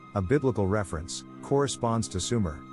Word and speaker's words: Sumer: Biblical reference corresponds to suumer pronounced Schumer the heartland of the